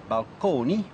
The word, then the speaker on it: balcony: describe them so balcony still pronounced at that time in the Italian manner balcone as well as Fresco